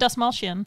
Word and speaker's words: Dastmalchian: Brittany, you're better at pronunciations than I am for Polka Dot Man. Let me look over. David Dastmalchian.